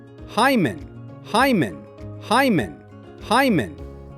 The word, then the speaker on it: hymen: The correct way is Hyman. Start with hi like saying the word hi and finish with a soft mun together. Hyman.